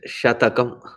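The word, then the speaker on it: śatakam: in its pronunciation so it is not shum it is shatakam when you say shum then it is six when you say Shak then it is 100 so technically it is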